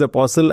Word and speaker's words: apostle: I think it's apostle. The T is silent.